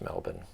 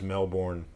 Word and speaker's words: Melbourne: cos in Florida where I grew up there's male born floor yeah oh yeah and it's just know born it's so you pronounce it as like born Jason Bourne's yeah